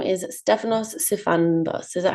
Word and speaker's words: Stefanos Sifandos: And this person's name is Stefanos Sifandos. Is that how I've pronounced it correctly?